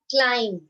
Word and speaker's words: climb: Now, climb. B is silent.